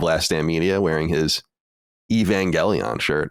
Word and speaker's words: Evangelion: Stand media wearing his Evangelion shirt or as I would call when I was a kid Evangeline Evangeline yeah I had no idea how to say it no idea none there's